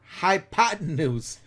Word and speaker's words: hypotenuse: High with a Y, pot. This is a P, by the way. And noose, that's an S.